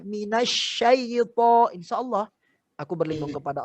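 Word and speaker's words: مِنَ الشَّيْطَانِ: Minas saito. Tapi kalau kita bacanya minasyaito, insya Allah aku berlindung kepada Allah dari godaan syaitan yang terkutuk.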